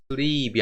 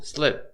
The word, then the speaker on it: slip: sleep이 아니고 slip 이렇게 짧게 얘기를 하셔야 돼요.